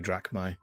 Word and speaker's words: drachma: So that's my 2 coins, my 2 drachma, or however you. I forget how to pronounce that. I understand. Drachma. Yeah, That's it.